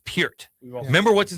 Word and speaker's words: Peart: Do you like Damn Neil Peart? Are you right. into drumming? Okay. Peart. Bonham or Didn't Neil even know Peart when it comes to They call drumming? his Peart. Yeah. It's Peart.